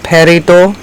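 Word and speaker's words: peridot: head is made of perido which is how that word is pronounced sometimes referred to as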